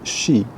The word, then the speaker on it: Sidhe: It's the story about the Shee, called, spelled Sidhe, but pronounced Shee.